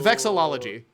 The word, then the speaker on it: vexillology: How are pronounced? I don't even know. Hold on. It's vexillology.